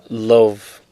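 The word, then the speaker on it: Löw: Actually, they pronounce it Love. Like, because you know how they pronounce their W's as V's?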